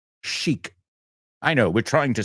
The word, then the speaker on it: chic: that those black dresses are very chick no Sheik I know we're trying